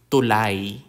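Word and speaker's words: tulay: thank you in English the consonant T like the T in tap tulai tulai a tulai is a bridge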